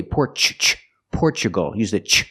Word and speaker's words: Portugal: correct hi from Portugal the country is not pronounced Portugal maybe she's speaking Portuguese I don't know but in American English the word is Portugal we pronounce a t with the chch sound because we have Tu we usually do that when you have Tu in the middle of the sentence we say CH like nature and natural so we